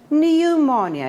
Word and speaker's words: pneumonia: The word starts with the letter P, but it is silent. It is not pronounced. We say pneumonia.